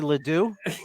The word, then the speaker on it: LeDoux: It was probably LeDoux. Yeah, no, you say it like this. LeDoux, like that. It is LeDoux or LeDoux.